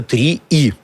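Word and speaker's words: 3е: Так хочется зе прочитать, но читается три и.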